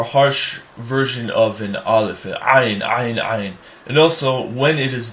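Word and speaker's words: Ayin: Ayn is a letter that a lot of people pronounce like an aleph, either silent or as a glottal stop. And ayn has its own sound.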